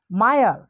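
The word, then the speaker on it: mire: এখানে উচ্চারণটা হবে কি মায়ার, কেন হবে আমরা জানি আয়ের পর আর ই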